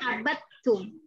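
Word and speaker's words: عَبَدْتُمْ: Tulisannya bukan abattum al ain ba lalu tak tasjid langsung, enggak. Ada dal dulu di situ baru ketemu ta. Kita bacanya abattum.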